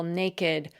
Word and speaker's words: naked: So it's strange that their ed suffix should be pronounced as a separate syllable.